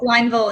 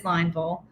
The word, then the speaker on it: Lineville: So it looks like Lineville, and it is Lineville.